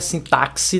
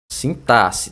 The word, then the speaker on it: sintaxe: pronúncia aí vamos lá sintasse sintasse não é sintaxe não viu meu povo é assim que se fala ó sintasse tá sintasse é meio que a pronúncia como se fosse com dois s aí vamos ver agora